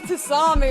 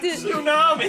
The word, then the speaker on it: tsunami: You're doing a Tasami or something. No, I don't know how to say it. And that's how we lost all the oxygen in the room. How do you say it? Tsunami. Tsunami.